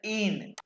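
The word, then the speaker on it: ihn: ठीक है, अच्छा, और अब जो है ना, अब मैं सिर्फ तुम्हें इनको प्रोनाउंस करके बताऊंगा कि अक्कुज़ेटिव क्या होते हैं।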